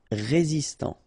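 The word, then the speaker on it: résistant: Final t not pronounced resistant tropical.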